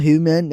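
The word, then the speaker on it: humane: इनकी प्रोनाउंसिएशन में थोड़ा सा डिफरेंस है। अगर उर्दू साउंड देखें तो ह्यूमन। ह्यूमन और दूसरा है ह्यूमैन। पहले में ह्यूमन और दूसरे में ह्यूमैन। फर्क एंडिंग साउंड और स्ट्रेस में है जो सुनते ही क्लियर लगता है।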